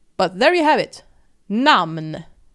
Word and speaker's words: namn: And in Swedish we pronounce it namn.